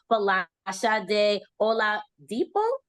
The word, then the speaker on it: Folashade Oladipo: We are going to be interviewing the very wonderful, amazing, and talented Folashade Oladipo. Did I say it right? Did I pronounce it correctly?